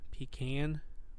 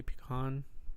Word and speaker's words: pecan: but she's from the South slave say yeah pecan but I say pecan that's whatever yeah I'm really excited to drink